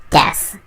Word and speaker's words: です: Now, first things first, despite the U at the end, and despite the way some people pronounce it to sound a bit more weebish, it is pronounced des.